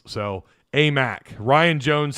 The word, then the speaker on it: Aimaq: because he didn't like the way i was pronouncing names so a mac ryan jones says it's a mac yeah uh